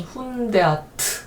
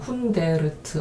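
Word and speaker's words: hundert: 자, 그 다음에 100은요 100인데 이게 독일어에서는 훈데아트 이렇게 된다는 거죠.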